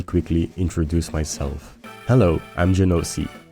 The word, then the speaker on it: Genoci: Hello, I'm Genoci. Yes, I pronounce my name wrong according to Google, but that's how I want to say it.